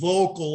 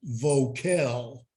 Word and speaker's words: Voelkel: wrong so i said it's pronounced vocal like a vocal arrangement or you know vocal chords you know so and i have one cousin who pronounced pronounces it vocal and uh so uh